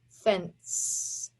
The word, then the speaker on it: fence: a vowel consonant cylinee but the e is there to make the c soft fence there's another one that